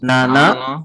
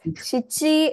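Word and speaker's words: 七: Similarly, 7 is shichi and nana.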